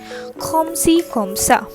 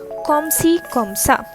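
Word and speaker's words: comme ci comme ça: am okay okay so what will you say komsi kamsa komsi kamsa so if i ask you kamo sava and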